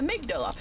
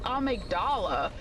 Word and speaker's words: amygdala: So I always called it amydala but until patches said amigdala you don't know like the pronunciation that they're going for right does that make sense?